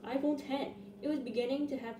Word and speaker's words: iPhone X: was no iPhone 9 the iPhone x is pronounced iPhone 10 it was beginning to